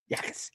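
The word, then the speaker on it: Jacas: Yakis. Yakis. Yakas. Yakas. It's a no J. All right. Jay is silent, brother.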